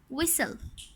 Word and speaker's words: whistle: The letter T is silent in these 4 words.